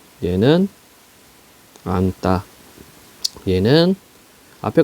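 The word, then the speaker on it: 앉다: 7종성 적용해서 비읍으로 발음한다는 얘기입니다 그러면 얘는 어떻게 발음하면 돼요 넉 얘는 안따 얘는 앞에 거 받아놓으면 되지 그지 얇다 얘는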